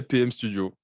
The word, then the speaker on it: Paiheme: studio qui s'appelle le alors la prononciation m euh ouais pm studio game studios voilà pm studio tu fais depuis quelques